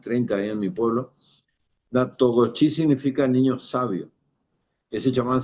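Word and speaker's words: Natoxochi: bueno, que se llama Pablo Natogochi, se escribe Natoksochi GSM, o sea, Pablo Natoksochi con X GSM.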